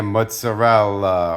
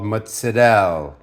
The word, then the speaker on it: mozzarella: find your fresh masadao now I say matsudel I don't want to hear mozzarella or mozzarella we're Italian here and it's an Italian cheese it's called matsudel all right I had